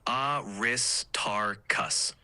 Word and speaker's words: Aristarchus: one aristarchus is pronounced Aris tarus emphasis on the second syllable eroses emphasis wait hold